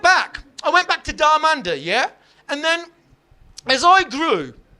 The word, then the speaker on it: Dharmander: So I changed my name from Darmanda. Danda, which is a wonderful three syllable spicy masala sounding name. I changed it from Darmanda to.